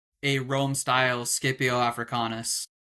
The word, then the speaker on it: Scipio: I pronounce it Scipio so technically let's all let's settle this right now. Technically the Latin and the Greek every time there is a C it is always pronounced like a K.